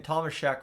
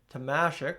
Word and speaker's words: Tomasek: I've been saying Thomas Shek for however long, but it is Tamasic, which makes, like I said, perfect sense given, you know, the situation that it is. So, uh, to Tamasic, Clattenberg, yeah, we we had a lot of